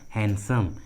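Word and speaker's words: handsome: उसी तरह हैंडसम, हैंडसम, इसका सही उच्चारण होता है हैंडसम, हैंडसम नहीं होता, हैंडसम होता है, हैंडसम डी साइलेंट होता है।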